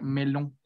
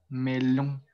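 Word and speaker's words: melon: Entonces, esta palabra va a sonar melón, melón. Tratar un poco de cerrar las fosas nasales y decir melón, melón.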